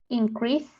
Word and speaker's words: increase: Increase. Good. So when it's a noun, we emphasize the first syllable.